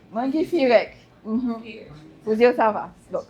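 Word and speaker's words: Maa ngi fi rekk: Comment ça se prononce, madame? Mangi Firek. Mangi Firek.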